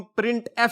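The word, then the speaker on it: printf: इसको हम प्रिंट एफ से प्रोनाउंस करते हैं।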